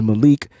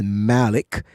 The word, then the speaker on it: Malik: wrong this whole time thought it was Malik but the pronunciation I believe is Malik uh and here's